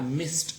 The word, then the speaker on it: missed: Like for example, you say I missed a call, M-I-S-S-E-D, missed, okay. We do not say missed, okay, but rather t sound.